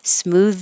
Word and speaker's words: smooth: down for this because the th is voiced smooth sailing chitchat you don't